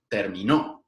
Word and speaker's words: terminó: la clase mientras que si yo pongo la prominencia central en la última sílaba como en termino